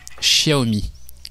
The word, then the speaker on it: Xiaomi: Xiaomi. C'est comme ça qu'on prononce.